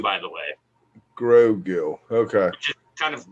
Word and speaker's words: Grogu: My friend just is calling Baby Yoda Gogurt because she can't pronounce it either, so she's going with Gogurt. That is a solid replacement. Yeah, it's Grogu, by the way. Grogu.